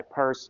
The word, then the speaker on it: Peirce: I don't know why you pronounce his last name Peirce because it's spelled like Pierce.